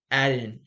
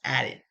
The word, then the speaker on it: Aden: And then the inside recruits, which is now, I keep pronouncing this wrong. Aden. It's Aden Dirty. I keep saying Aiden. It's Aden. So let's go back.